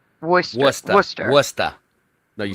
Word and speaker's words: Worcester: Worcester. Worester.